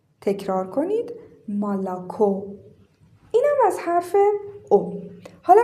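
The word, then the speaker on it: молоко: این او تکیه نداره صدای آ میده. این او هم تکیه نداره صدای آ میده و این او فقط او تلفظ میشه. پس این کلمه خونده میشه مالاکو.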